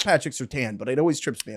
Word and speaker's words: Surtain: And then also, Broncos cornerback Patrick Surtain is out for weeks, and we just made a face, DK.